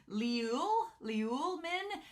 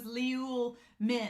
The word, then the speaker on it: Liu Min: Sunray pointed out that Liu Min's name is pronounced Liuel, is like Liul Min. There's an L in the end, but I didn't know about it. They said the pronunciation was Liul Min, and I was like, where's the L at?